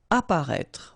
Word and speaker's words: apparaître: Apparaître. Okay, so exactly the same situation here with this circonflex. You don't pronounce it.